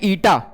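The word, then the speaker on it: eta: क्या प्रोनाउंस करते हैं इसको? ईटा प्रोनाउंस करते हैं। क्लियर है? ईटा प्रोनाउंस करते हैं, ईटा प्रोनाउंस किया जाता है।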